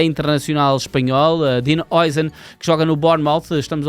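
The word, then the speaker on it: Dean Huijsen: do Manchester United, e Don Dean Oisen. E é assim que se pronuncia, apesar de parecer que não é assim que se pronuncia.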